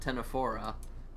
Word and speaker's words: Ctenophora: They're actually part of their own unique branch of the animal kingdom called Ctenophora, spelled with the silent C, C-T-E-N-O, phora.